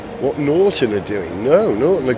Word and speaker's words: Norton: Have you noticed how I say Norton, not Norton, which is what I used to say. Got to pronounce the T right.